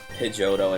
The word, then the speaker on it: Pidgeotto: two separate trainers I think Jodo I always pronounce it Pidgeiodto and Pidgeot I feel like it's supposed to be Pidgeotto and Pidgeot. Don't say a pigeon is a Pidgeon, you know.